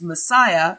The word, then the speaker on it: MSIA: John Roger Henkins, founder of the Church of the Movement of Spiritual Inner Awareness, MSIA, pronounced Messiah, has gotten a lot of bad press lately.